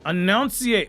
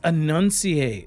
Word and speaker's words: enunciate: person's like I'm unsubbing can you not pronounce annunciate annunciate it's annunciate annunciate like whatever it is right it's I think it's annunciate right let me I got my pinky in the a it's enunciate you know like hermani was